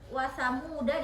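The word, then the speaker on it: وثمودا: Nah, tapi karena diberi dia si tanda siprun mustadir, maka alif itu tidak dibaca. Jadi dihilangkan. Jadi dibacanya ketika waqaf wasamud. Jadi wasamuda fama, nggak boleh wasamuda fama.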